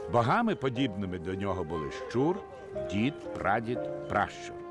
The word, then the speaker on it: Щур: Богами, подібними до нього, були щур, дід, прадід, пращур. Щур також вимовляли як чур.